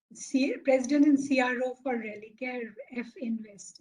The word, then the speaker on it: Religare Finvest: and CRO for Relicare F Invest. Is it pronounced as F Invest or Finvest or what? It is Finvest, Finvest?